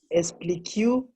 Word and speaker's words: expliquer: When letter Q is for letter U, is when letter G and letter Q is for letter U is silent. Eh? Okay. So we ignore the U, so then we say explique.